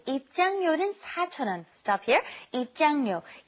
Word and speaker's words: 입장료: It's kind of hard to pronounce because your tongue's kind of moving around in your mouth. It's 입장료 and then 대여료.